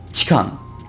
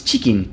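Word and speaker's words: チキン: Chikan. I That's I That was the closest pronunciation to chicken I could think of in Japanese. It's It's chicken, not chikan.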